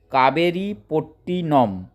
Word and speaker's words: কাবেরীপট্টিনম: উচ্চারণটা হবে কাবেরীপট্টিনম।